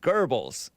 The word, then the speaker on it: Goebbels: I like Goebbels, but I heard that it's pronounced Goebbels.